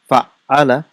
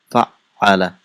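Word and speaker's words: فعّل: How do we pronounce it? Fa'ala. And how is it written? It's written with shadda. Fa'ala.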